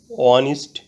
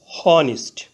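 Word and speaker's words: honest: ম্যান অনেস্ট অর্থ সৎ এখানে অনিস্ট এর প্রথমে এইচ কনসোনেন্ট এইচ এর উচ্চারণ হয় বাংলা হ এর মত প্রথমে এইচ ধরে উচ্চারণ করলে হয় হানিস্ট কিন্তু এইচ এর উচ্চারণ না না হয়ে ভাওয়েল ও থেকে উচ্চারণ শুরু হয়েছে অনিস্ট এইচ এর উচ্চারণ অন উচ্চারিত থাকায় এবং ভাওয়েলের উচ্চারণ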